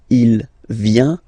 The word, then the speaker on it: vient: Final T not pronounced. Il vient, elle vient. So if we take 1 second just to have a look at the je, tu, il, elle forms, they are phonetically the same. Vient, vient, vient.